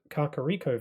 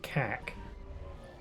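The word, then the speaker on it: Kakariko: I recently found out that Kakaro Village is pronounced Kakaro Village when I would always say kak, which is a word that means poop. So, it's probably for the best that I'm not calling it that anymore.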